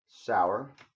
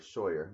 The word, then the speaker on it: Sauer: Sauer. Or Sawyer. Would you pronounce that Sawyer? S-A-U-E-R? Sauer. Sauer? I had it right the first time.